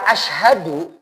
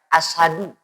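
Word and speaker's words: أشهد: Kalau asyhadu terdiri dari alif, shin, ha, dal, ini tepat. Asyhadu artinya saya bersaksi. Tapi berapa banyak kita dalam mengucapkan syahadat kita entengin, kita ringankan bacaannya. Asadu. Ketika dibacanya asadu artinya singa.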